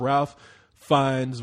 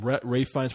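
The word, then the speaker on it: Ralph Fiennes: for doubt was up Ralph fines was up or Ray I even say his name Ray fines for The Duchess he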